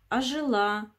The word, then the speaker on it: ожила: ударение падает на и ожила ударение на а силос ударение на и